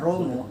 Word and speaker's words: Romo: pengetahuannya wawasannya ilmunya tapi Romo itu kan panggilan laki-laki ya panggilan laki-akiom atau tadi MB sudah membahas tentang panggilan ramaah itu konotasi yang berbeda saja aslinya Rama dibacanya ROM oke nah sekarang Tolong